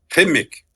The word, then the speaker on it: Qimmik: ouais oui en fait on prononce le cas comme en arabe c'est kimic mais c'est correct de dire kimic aussi ok mais l'important c'est